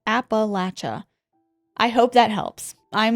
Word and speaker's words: Appalachia: I know y'all have been back and forth on how to pronounce it, and I say it like Appalachia.